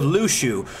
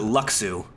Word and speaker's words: Luxu: Here in the case of Lushu, which until I watched this before, I pronounced it Luxu.